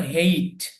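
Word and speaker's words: hate: অনেকেই অনেকভাবে উচ্চারণ করেন, তবে এটা সঠিক উচ্চারণ হলো হেইট।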